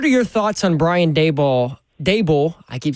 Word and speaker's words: Daboll: your thoughts on Brian Dable? Dable. I keep saying Dball. I need to get his name right. Brian Dable like Table uh getting hired as the Titans offensive coordinator officially announced yesterday.